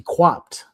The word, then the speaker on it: Quapt: How you pronounce it is actually Quapt.